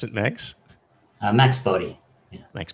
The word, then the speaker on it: Boddy: How do we pronounce it, Max? Max Boddy. Yeah. Max Boddy.